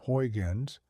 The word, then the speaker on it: Huygens: The Dutch mathematician Christian Huygens, pronounced Christian Huygens, looked at the world and saw vibrations.